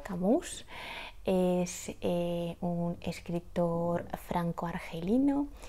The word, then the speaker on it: Camus: favoritos que es Albert creo que se pronuncia camus es un escritor Franco